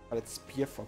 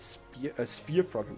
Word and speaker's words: sphere frog: If you're not sure whether or not you should spear frog, it's spear frog. We should pronounce it right. Sphere frog. We don't put a spear in him.